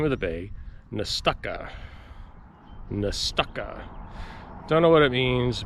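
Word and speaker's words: Nestucca: seconds to ponder your fate okay so you pronounce the name of the bay nastaka don't know what it means but that's how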